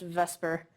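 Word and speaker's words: VSEPR: the supper but is actually for some reason pronounced vesper um okay so the name kind of tells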